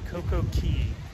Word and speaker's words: CocoCay: And according to the Bahamians, it's pronounced Coco Key, not K.